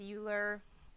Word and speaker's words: Euler: and this is uh euler's number you'll also hear his name pronounced euler it's kind of a personal preference okay you might also